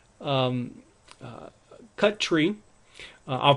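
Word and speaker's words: cutree: actually cut tree uh I guess they just didn't want to put two T's together so we say um uh cut tree I'll pronounce as cut tree and then uh for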